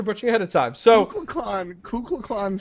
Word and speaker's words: Kukulkan: I apologize if I butcher the name, Kukulkan Khan. But wait, what? Kukulkan Khan? Would someone else like to pronounce his name? I love you so much. Thank you, I appreciate it. Kukulkan.